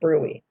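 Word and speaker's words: bruit: the brewee ruby is spelled b-r-u-i-t but it's pronounced brewey bill the thrill hear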